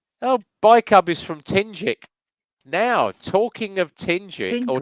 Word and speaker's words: Tingewick: Oh, Bike Hub is from Tingick. Now, talking of Tingick, or Tingewick as they call it. Yeah, Tingick. I've heard of it's that. actually pronounced Tingick.